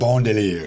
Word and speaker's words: Bon Délire: cover it we'll cover it but uh so Bundeler Bundeler did I pronounce it bondier bundelier um where is this place or for whoever that doesn't know.